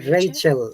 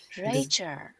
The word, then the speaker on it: Rachel: pronounce the name yeah rachel yeah if you remember l you need to practice l sound if you see it's a band rachel rachel writer bought a